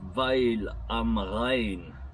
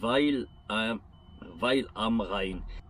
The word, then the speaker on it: Weil am Rhein: Aujourd'hui, je suis en Allemagne, je suis à Weil am Rhein, je pense que ça se prononce comme ça, W-E-I-L, espace A-M, espace R-H-E-I-N, Weil am Rhein.